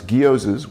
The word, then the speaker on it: gyoza: She said it's guzzas with a with a hard G, which it is.